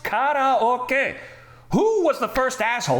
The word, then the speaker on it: カラオケ: Ooh, karaoke. Karaoke. It is pronounced karaoke. Who was the first asshole who said karaoke, and why the hell have we just all